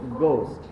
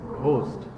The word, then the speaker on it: ghost: সো GHOST এটার প্রনাউন্সিয়েশনটা কি? গোস্ট। কিন্তু অনেকে এটাকে উচ্চারণ করে কি? ঘোস্ট।